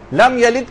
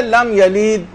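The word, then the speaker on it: لَمْ يَلِدْ: لم یلد کے بجائے لم یلید. بہت سے لوگ بہت کھینچ کے پڑھنے کے عادی ہو جاتے ہیں، تو اس میں ہم نے زبردستی یا کا اضافہ کر دیا.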